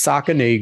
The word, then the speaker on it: Saucony: It's Saucony.